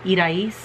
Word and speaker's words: Irais: So in Spanish, my mom's name is Irais. So Iris, I know is spelled I-R-I-S, but my mom's is spelled I-R-A-I-S.